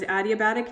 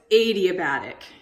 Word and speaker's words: adiabatic: So I thought it was adiabatic. No, it's adiabatic expansion.